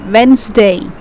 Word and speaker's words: Wednesday: a native speaker native speaker say like this wednesday okay it's men's day i hope you are